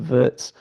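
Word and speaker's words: Wirtz: I thought it was pronounced Vitz in German but is actually pronounced Vertz.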